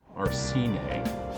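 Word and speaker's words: Arsène: look it up but the way i always hurt was arsene hey because it's a french pronunciation take that millionaire huh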